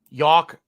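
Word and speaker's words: Yalk: AFC New York York rhymes with walk y a l k not y o r k uh I'm the bearded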